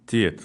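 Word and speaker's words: Teyit: Is it Tayat? Tayat. Tiet. Ударение на первом слоге, да? Tiet, okay.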